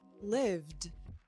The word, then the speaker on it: lived: The v is a voiced sound. So, live becomes lived.